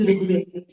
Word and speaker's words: Rigveda: They would pronounce it as if it is Ra and then Rukar. They didn't know even that there is a vowel called R, which is Rigveda.